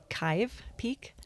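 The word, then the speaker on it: Kyhv Peak: It's now called Chive Peak. Chive. Rhymes with chive.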